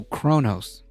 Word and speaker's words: Kronos: Konos? This is how you know I'm not like a big like Star Trek kind of Oh, Kronos.